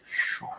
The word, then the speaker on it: Sean: he wanted to be, because my name is Sean, please pronounce it Sean.